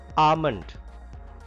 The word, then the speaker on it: almond: Almond. L is silent here.